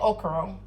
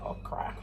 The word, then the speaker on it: okra: Now I'm saying okra, because that's what we call it back in St. Croix. That's the way that we pronounce it. But the correct pronunciation is actually okra.